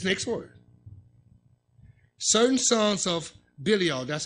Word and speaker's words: Belial: Certain sons of Belial. That's how you pronounce it.